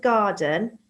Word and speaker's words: garden: I would say that's one sound. D. N. It's almost like you can't hear the E in there.